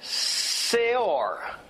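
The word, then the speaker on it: se'or: This Hebrew word, which is the it also means leaven, is pronounced seor. And seor sounds pretty similar to what? Sour. In English we say sour. In Hebrew we say seor.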